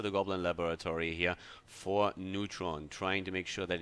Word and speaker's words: Neytpoh: We have our Nightelf versus Nightelf here, the WGL, and we have Neutron. That's at least, I was told, how Neytpoh is pronounced.